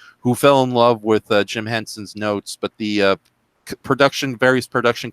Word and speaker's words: Jim Henson: happy that it is a prequel is apparently Jim Henson. Did I say his name right, or did I get his name wrong? You got it right. Okay, thank you. Jim Handy. Damn it! Jim Henson.